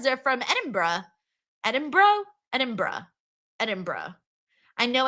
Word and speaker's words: Edinburgh: Edinburgh. I know it's not Edinburgh.